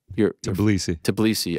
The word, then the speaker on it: Tbilisi: And then here's further scenes in Georgia, in the heart of, how do you pronounce it, GC? Tbilisi.